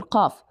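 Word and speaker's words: قاف: For the letter caf it's kind of similar. It's just uh the tip of your tongue would be lower than the letter cf. So the highest point again or where the sound is coming from should be from the far tongue. But uh the space or the area between your pallet and your tongue is going to be larger than letter K.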